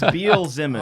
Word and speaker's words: Beelzemon: Kind of looks like a bee and then a bee trying to say lemon. Yeah. So it has like bzz, B. Zemin. Zemin. Yeah. It's Beelzemon.